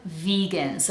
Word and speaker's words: vegan: sound CT strict and then we have vegan so make sure we're doing the vibrating vvvv sound followed by e v and then the second syllable is a soft one so we have schw guns almost sounds like there's no vowel at all so we say gnz vegans make sure that's a vibrating z sound not vegans but vegans